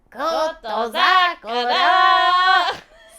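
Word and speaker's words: Kotozakura: This woman going, Koto Zakura. So that may be just the way his name is supposed to be pronounced. That's right. So who is this? Koto Zakura.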